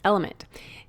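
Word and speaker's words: LMNT: our sponsors Ln element it's spelled LMN but pronounced element if you haven't heard about this element is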